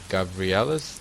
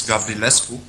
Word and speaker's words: Gavrilescu: I'm here with Gavrilescu. Did I say it right? Not really, it's Gavrilescu in Okay. Romanian, but it's close enough.